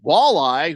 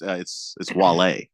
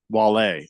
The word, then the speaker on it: Wale: Stockton Slap says Walleye, who's a rapper from DC, definitely a good option. Okay, yeah, I guess it's spelled W-A-L-E. Oh, it's Wale. Wale. Oh, he says Walleye. It's Wale. Yeah.